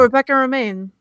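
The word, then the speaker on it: Rebecca Romijn: Oh, Rebecca Romaine. Oh, that's how you pronounce it?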